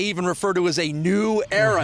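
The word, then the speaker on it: Neu: They even refer to as a new era. His name is spelled N-E-U, but Mike New is a former Ball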